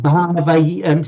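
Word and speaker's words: bhāvaye: Just remember, bhavaye. Say bhavaye. Bhavaye. Bhavaye. It's not so much an it's more of an bhavaye.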